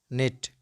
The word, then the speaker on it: knit: the words which commence with cairn then k is not pronounced let's go with some relevant examples like no no knee knee knit knit night night knock